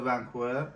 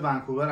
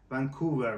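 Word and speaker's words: Vancouver: مثلاً بشه ونکوور اصلاً خود ونکوور م غلطه ونکوور باید تلفظ استرسش بذاری روی وسطش یا ما داریم ۹۰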